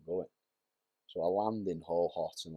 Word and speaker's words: Hohhot: So I flew over to China, but the part of China was called Ho-Hot. So it's spelled Hohhot.